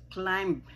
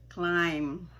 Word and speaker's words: climb: ng iba dyan ay climb. Pinopronounce din nila yung last na letter, which is a consonant na B. Dapat po yan ay silent ang B. At yan ay long I. Kaya yan ay climb.